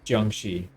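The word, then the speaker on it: Jiangxi: Xi or Jang in I believe it's the Beijing accent. All the the shis are pronounced with an R, but outside of Beijing, I don't think they say that. It's it's Jang Xi.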